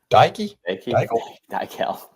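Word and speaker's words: Daikiel: Daykel.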